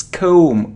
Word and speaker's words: comb: com com or com it's comb o and without B don't pronounce B comb comb it isn't plumber